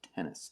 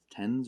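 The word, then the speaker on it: Tennes: introduce uh mr missus i believe it's pronounced tennis it's t-e-n-n-e-s so tens or tennis so um steven and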